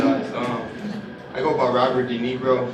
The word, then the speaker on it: De Niro: Is it, how do you pronounce this? Robert? De Niro.